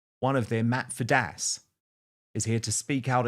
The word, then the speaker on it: Fiddes: But before I start, one thing me and you never get right is you can never pronounce my surname right. So it's Fiddes.